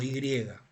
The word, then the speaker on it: J: J en la que la J se pronuncia a La alemana como como y y que Data del siglo